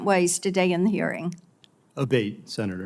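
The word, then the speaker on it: Abbate: We've heard it pronounced 3 different ways today in the hearing. Abate, Senator. Abate, Yes.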